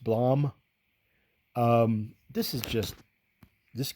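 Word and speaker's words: Blame!: I actually still need to read the other volumes, but if you're familiar with Blom, that's how it's pronounced. Blom.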